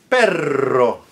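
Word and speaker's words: perro: pero the preposition but pero pero and perero which is dog.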